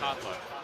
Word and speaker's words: Potluck: You can just say pot like a dinner. Potluck.